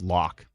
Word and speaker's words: Loch: Oh, Loch is pronounced lock.